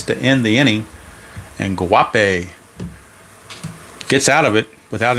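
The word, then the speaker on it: Guaipe: how you pronounce it woppy I guess the g is silent so woppy wapi okay we'll go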